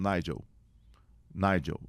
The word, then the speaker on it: Nigel: o seu nome, desculpa, é Nigel ou Nigel? Aí ele falou, Nigel.